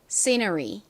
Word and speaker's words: scenery: r가 연결됐을 때 실제 미국식 발음으로는 ri에 더 가깝게 발음이 납니다. 그래서 읽어보면 scenery가 됩니다.